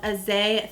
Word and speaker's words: Eze: So this is from a brand called Eze Fashion. I believe is how you pronounce it, E-Z-E Fashion.